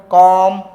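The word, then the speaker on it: calm: यहाँ L silent है। ठीक है, क्या हो जाएगा? ये आमंड, कॉम, पॉम, बॉम और ये सैमन। क्या हो जाएगा? ये सैमन हो जाएगा।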